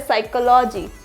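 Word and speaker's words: psychology: पी के बाद एस आ जाए तो पी साइलेंट होगा जैसे कि यह वाले वर्ड्स तो बहुत ज्यादा आते हैं साइकोलॉजी क्या होता है साइकोलॉजी psychiatrist psychiatrist next साइकोथेरेपी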